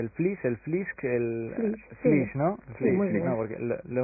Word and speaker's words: flysch: escrito muchas veces pero nunca lo había oído pronunciar flish una palabra alemana verdad qu es Cómo